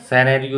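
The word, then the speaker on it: scenario: 32वां प्रश्न है choose the silent letters in the word सिनेरियो, तो इसमें सी साइलेंट है, सिनेरियो इसको हम पढ़ेंगे तो सी का उच्चारण नहीं हो रहा है, तो बी ऑप्शन हमारा सही हो जाएगा।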